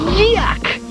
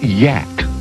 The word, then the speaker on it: Yak: Yuck! Actually, the creature's name is pronounced yak.